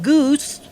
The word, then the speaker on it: Gus: With us now is Thurston Gus III in Manhattan. Hello, sir. It's pronounced Goose. Thurston Goose the Third.